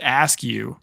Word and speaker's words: Eskew: I'm Eskew, even though my last name is actually pronounced ask, but I call it the eskew crew.